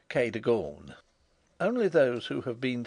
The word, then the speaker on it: Kagan: as it may appear my housekeeper was called Kagan a name made locally possible by being pronounced Kon only those who have